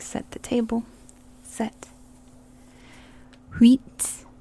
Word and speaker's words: uit: Wheat, like wheat bread, but not pronounced like wheat bread. Wheat, wheat. Neuf, neuf.